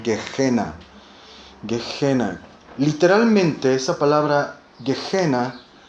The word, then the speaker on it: Gehenna: La palabra infierno en este verso proviene de una palabra griega que se pronuncia como Gehenna.